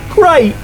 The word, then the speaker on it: great: many problems, particularly because British people do not usually pronounce the T at the end. This is very characteristic of the London accent, where you'll hear people say 'Great!'.